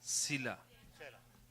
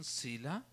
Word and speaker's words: Selah: आखिरी कुछ लिखा है, ओके, एक म्यूजिकल नोट लिखा हुआ है, हाँ, सीला है ना, हाँ बस, SELAH, ठीक है। इसका प्रोनाउंसिएशन सीला या सेला है।